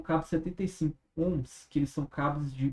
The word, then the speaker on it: ohm: 50 ohms. Isso aqui se pronuncia assim, tá? Ohm.